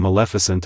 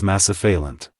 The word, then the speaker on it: Maleficent: Julianne Hough added a playful moment by mispronouncing Maleficent as Massaphalant.